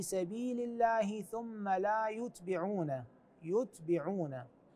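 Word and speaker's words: يُتْبِعُونَ: الله ثم لا يتبعون يتبعون هكذا تقرا وليس لا يتبعون يعون هي نفس الحروف لكن الحركات تختلف ايضا في نفس هذه الصفحه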